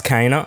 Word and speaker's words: Kena: bridge of spirits and it is kana i'm pretty sure that's how they say it in the game so